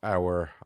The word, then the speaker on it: Aouar: been in contact over Aouar. Is it Aouar? Yeah, that's how you say it.